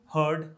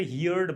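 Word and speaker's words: heard: not allowed right हियर हर्ड हर्ड right सुनना अब बहुत सारे लोग यहां पे हियर्ड बनाते हैं प्लीज हियर्ड नहीं होता हियर हर्ड हर्ड next one is listen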